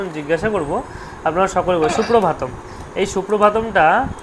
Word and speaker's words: সুপ্রভাতম: রয়েছে আমার ভাতম ভাতম তাহলে সুপ্রভাতম ভাটা কিন্তু দীর্ঘ বোঝা গেল সুপ্রভাতম তাহলে সুপ্রভাতটা উচ্চারণ